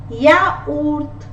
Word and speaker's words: yaourt: In word it is pronounced as yoga. Yoga is yoga in English. Yaourt, yaourt.